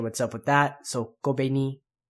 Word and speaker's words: Kobeni: Not really sure what's up with that, so Kobeni. All those are short syllables, so put together it's Higashiyama Kobeni.